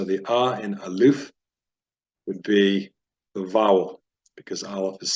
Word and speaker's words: Bet: So this is pronounced with a B as in boy. And when it is missing the dot, it is pronounced a V sound as in van.